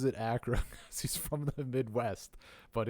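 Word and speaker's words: Achra: I actually asked the Creator he said he pronounces it Acra he's from the Midwest but it's either um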